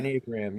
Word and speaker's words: Enneagram: I might be saying it wrong, but the Enneagram of Yeah, you did Personality. that really well. Yeah. Okay. Enneagram.